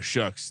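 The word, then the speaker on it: Shough: I think it's too bad that Tyler Shuck's name rhymes with a four-letter word that starts with F because it's uh it could get bad for him down there in the big easy.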